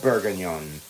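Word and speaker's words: bourguignon: wine here, I would essentially be making Beth Bergen or beef bergen. Bergen. There we go. That's how it's pronounced.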